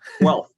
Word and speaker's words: Guelph: Byram Bridle, Associate Professor of Viral Immunology at the University of, how do you pronounce that, Byram? Guelph. Guelph?